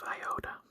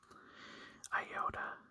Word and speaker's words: iota: So, Iota has different pronunciations based on if it's a short or if it's a long iota. So, in a short iota, it would be like the sound in it.